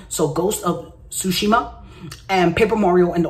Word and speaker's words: Tsushima: Ghost of Tsushima, T is silent. So Ghost of Tsushima and Paper Mario and the Origami King release date, which is today, July 17th.